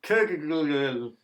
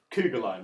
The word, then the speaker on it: Kuggeleijn: Scott Kuggeleijn. Paddy, no. It's actually pronounced Kuggeleijn, right? Yeah, I believe so.